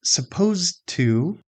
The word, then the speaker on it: supposed to: So, in the phrase supposed to, if we pronounced every sound carefully, we would say supposed to. The final sound of supposed is a d, and the next word begins with a t. Both d and t are made in almost exactly the same place.